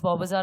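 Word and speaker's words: Bowbazar: from loretto bobazar yeah the pronunciation is bobazar and not so from there like we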